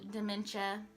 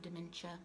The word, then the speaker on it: dementia: So dementia, and I just learned how to say dementia, by the way. I was calling it dementia. So throughout some of the videos that I recorded before this, I said it wrong like 50,000 times.